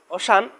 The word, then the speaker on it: ocean: এখন আমরা আরো একটি লেটার দেখি, যেমন ওশান, ও সি ই এ এন, ওশান এই লেটারের সি লেটারের পরে ই এ আছে, এজন্য সি লেটারের উচ্চারণ তালিবের শ এর মতো উচ্চারণ হয়েছে। তারপর আরো একটি লেটার দেখি আমরা, যে যেমন এখানে দেখতে পাচ্ছি আমরা মিউজিশিয়ান।